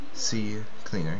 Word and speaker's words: CCleaner: going to go to the C cleaner website C cleaner yeah that's how you say it and I'm